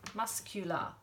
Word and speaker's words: muscular: muscles he's very muscular suddenly the C is sounded muscular but hopefully you know